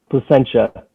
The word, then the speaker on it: Placentia: Am I pronouncing this right? Placentia? Placentia. Oh, Placentia.